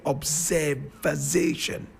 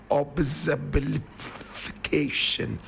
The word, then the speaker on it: observation: And I remember him saying, observification, observification. You know, for a reason, he was never really able to pronounce that word.